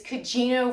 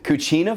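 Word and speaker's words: Cugino: that right no it's it's kajino Forno but I don't know that I'm pronouncing it correct I'm way off cuchina Forno is that right c u g i n o oh yes yeah we're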